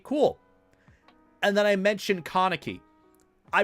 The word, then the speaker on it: Kaneki: comments tore me apart they're like um it's kaneki you idiot how can you pronounce it wrong sorry I'm sorry I watched